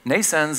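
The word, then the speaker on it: Nnaisense: Nascens is pronounced like birth, Nascens, but it's spelled in a different way, NN for neural networks, AI for artificial intelligence.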